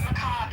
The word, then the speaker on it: macabre: You're just you're a macabre uh person who's interested in death. Macob is how you pronounce it.